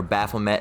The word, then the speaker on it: Baphomet: All right, also known as Baphomet. All right, or Baphomet as it's sometimes pronounced.